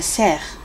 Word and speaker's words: cerf: Le maître, les gazelles, la vétérinaire, Tabib al-Baytariya, la vétérinaire, un cerf, le cerf, ça s'écrit comme ça avec un F à la fin et le F ne se prononce pas.